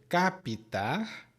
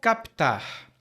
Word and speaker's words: captar: vem do verbo captar a pronúncia pode ser capitar como a mini pronúncia ou captar como a pronúncia de algumas pessoas Hum e aí o